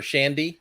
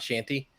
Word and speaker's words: Shandy: called Leinenkugel and it's called the summer Shanty or Shandy not Shanty and uh something that